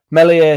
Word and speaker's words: Meslier: Melier silent s. Messier silent s has been linked apparently with Leicester.